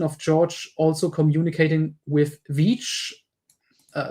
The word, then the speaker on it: Veitch: I find it so funny that she's pronouncing his name as Vich and then writes it Vich like actually correct I e instead of ei uh because English speakers have trouble differentiating there.